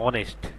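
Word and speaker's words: honest: এরপর দ্বিতীয়টা হচ্ছে এইচ ও এন ই এস টি, এখানে এইচ এর উচ্চারণ না আসে, আসলো ও এন ই এস টি, অনেস্ট।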